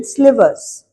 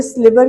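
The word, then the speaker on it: sliver: एंड ह सन when one ऑफ़ the wooden स्लीिवर्स। अब यहां पे बच्चे स्लवर के स्पेलिंग में भी गलत लिखते हैं।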